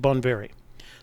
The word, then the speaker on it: Bonveri: I'll probably pronounce it. Let's see, Bonveri. It's pronounced Bonveri.